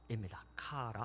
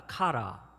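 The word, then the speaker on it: χαρά: 카라 한번 따라 하시겠습니다. 카라. 카라. 네, 뒤에 라자가 붙었네요. 랄랄라 좀 즐겁죠? 기쁨이라는 뜻입니다. 카라.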